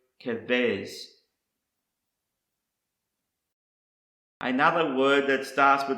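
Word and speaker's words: כבש: The next word I want to show you is pronounced kavez, and it's a lamb, sheep, or a young ram. Again, it is the word kavez.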